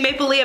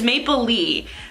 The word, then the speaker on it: Maplelea: I keep on saying Maple Leah because everyone pronounces it wrong pronounces it Maple Leah it's Maple Lee just like Maple Leaf but without the F so Maple Lee is